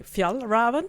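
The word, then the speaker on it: Fjällräven: our nons Swedish listeners if Fel Raven sounds familiar we are saying now how it's pronounced in Sweden but maybe other other people say F Raven or something like that I don't know I have no idea pronounce it in English uh but it's called f Raven if you want to say it correctly it's the company behind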